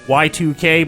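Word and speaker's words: YIIK: out earlier this year called like y2k but it's spelt Y iik Toby Fox did a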